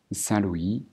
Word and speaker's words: Saint-Louis: dans les pays francophones on va les prononcer bien sûr à la française c'est-à-dire Saint-Louis D3 Bâton Rouge et